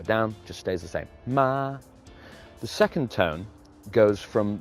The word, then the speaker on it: ma: We're going to use the example of M-A in pinyin, which is pronounced ma, ma.